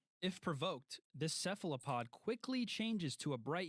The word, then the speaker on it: cephalopod: It's cephalopod. Cephalopod. I still can't You're just mad because you aren't white. even fucking pronounce it.